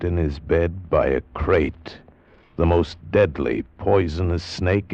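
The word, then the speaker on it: krait: What kind of a guy Harry Pope was, and what kind of a snake a crate is. First, the crate. You spell it K R A I T.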